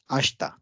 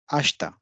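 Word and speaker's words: 明日: is the word for tomorrow and it is pronounced as ashta ashta and day after tomorrow again we have the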